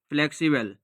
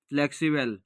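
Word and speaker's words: flexible: একসাথে উচ্চারণ করলে হবে ফ্লেক্সিবেল, ফ্লেক্সিবেল, ফ্লেক্সিবেল।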